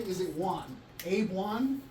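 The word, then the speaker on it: Waun: Is it Juan? Abe Juan? Spell it. W-A-U-N. Like Obi-Wan Kenobi.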